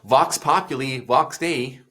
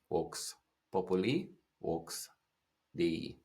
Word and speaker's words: Vox Populi, Vox Dei: People say, Vox Populi, Vox Dei. But in Latin, there's no V sound. It's actually Vox. And it's not populi. It's Vox Populi, Vox Dei is the correct pronunciation in Latin.